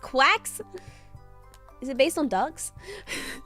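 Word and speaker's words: GQuuuuuuX: It's pronounced quacks.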